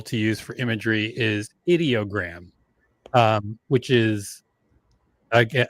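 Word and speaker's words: Ideogram: My favorite tool to use for imagery is Idoggram. Um, which is I guess I I guess they call themselves audiogram, even though it's spelled idiogram.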